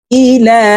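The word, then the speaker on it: إلى: দেখুন, সুম্মা যাহাবা, সুম্মা যাহাবা ইলা আহলিহি। এই লামে ৩ আলিফ টান হবে, মদের হরফের উপরে চিকন চিহ্ন, বামে হামজা, মধ্যে মুনফাসিল, ৩ আলিফ টানিয়া পড়িতে হয়।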